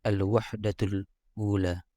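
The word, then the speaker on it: الوحدة الأولى: Kemudian di sini ada kalimat al-wahdatul ula. Tulisannya al-wahdatu dalam kurung angka 1. Dibacanya al-wahdatul ula.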